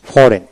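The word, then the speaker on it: foreign: sign S এ আই N sign এখানে জির উচ্চারণ হলো না এস আই এন সাইন তারপরে সাইনড সাইন তারপরে আসেন ফরেন এফও আর ফর ই আই জি এন ফরেন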